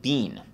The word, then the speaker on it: been: been because you know in London they pronounce it Bean they don't pronounce it Ben what am I talking